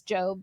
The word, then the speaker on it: Gob: So, his name is Job, but it's spelled G O B, so everyone calls him Gob.